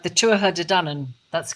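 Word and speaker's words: Tuatha Dé Danann: of them that's right the two of her de dunan that's correct and their fight they're fighting and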